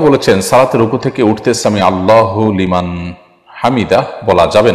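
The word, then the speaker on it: سمع الله لمن حمده: থামতে হবে সেখানে যেখানে মানুষ ওয়াকফ করবে, ওয়াকফ না করলে সেখানে আপনার হরকত থাকলে সেখানে সাকিন দেওয়ার সুযোগ নেই, বিশেষ করে শব্দের শেষে।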